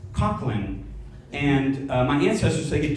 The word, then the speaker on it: Coughlin: yeah so actually uh my last name in ireland is pronounced cochlin and my ancestors they